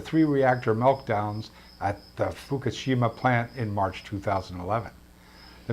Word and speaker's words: Fukushima: crippled Fukushima Nuclear Plant not Fukushima what is it Fukushima Fukushima it is but it's all in the pronunciation you at the crippled